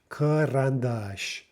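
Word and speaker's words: карандаш: Karandash. So there we have the first one pronounced Okay, the next letter is maybe the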